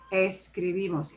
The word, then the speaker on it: escribimos: of that word uh words that end in uh vowels or n or s should stress the second to the last syllable so i'm putting the second to the last syllable in bold actually i should put the whole thing in that's the whole bald syllable escribimos escribimos escribimos the way i pronounce it obeys that rule don't need an accent